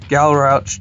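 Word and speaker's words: Galrauch: box of chaos nights and I've got a gal Roach dragon that's how you say it and I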